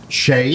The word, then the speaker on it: Shade: But How his does he name is spell it? Shade. Shade.